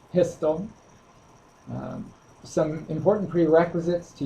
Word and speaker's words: PSTL: Professional Service tools Library pstl pronounced pistol um some important prerequisites